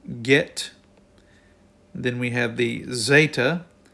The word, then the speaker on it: Zeta: then we have the Zeta The Zeta is pronounced with a DZ sound as in Z then we have the